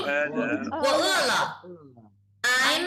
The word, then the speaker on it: 饿了: 我饿了。No, wrong pronunciation. 我饿了。Still remember the meaning? 我饿了。I'm hungry.